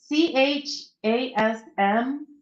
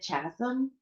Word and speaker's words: chasm: It's CHASM. And I'd always pronounce it in my head chasm for some reason, but then I heard somebody actually pronounce it, and it's chasm.